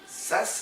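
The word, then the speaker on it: Zsasz: ¿Cómo es la pronunciación? Sass sería... Sass. Ajá, con... ¿No? Es que es curioso Sass. porque su nombre es Víctor Sass, pero lleva una Z con una S seguida, o sea...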